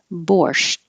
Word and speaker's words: borscht: Borscht. I'm going to hold the T, borscht, and not release it, borscht, borscht.